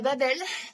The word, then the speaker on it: Babel: voilà Babelle Babelle euh Babelle de Cuang je prononce à la française aux éditions des Axus